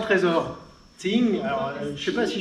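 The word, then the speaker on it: 精: Ça s'écrit Jing, mais ça se dit Ting.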